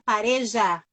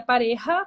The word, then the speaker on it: Pareja: A pronúncia na Espanha seria Pareja, porque o J tem som de R, mas no Sim. Brasil é Pareja, mesmo com J, a pronúncia que eu me reconheço e pode chamar de